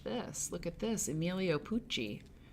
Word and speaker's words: Pucci: This is a picture from Vogue, with Emilio Pucci, who, if you don't know, was a designer, rhymes with Gucci, but he was in the 1970s.